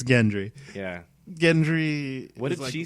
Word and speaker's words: Gendry: right after however you say his name barathan Gendry yeah it's definitely Gendry not Gendry is it I just watched something where they said both oh yeah me too yeah I think it's Gendry yeah Gendry what did she say who Michelle no uh